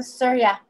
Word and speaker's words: Surya: Oh, Surya.